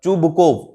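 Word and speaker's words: Чубуков: He visit to चुबुकोव, मतलब चुबुकोव, चुबुकोव है इसका करेक्ट प्रोनाउंसिएशन।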